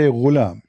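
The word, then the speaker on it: غلام: Al-ghulam بضم الغين, which mean you say ghulam. It's saying you how to say it.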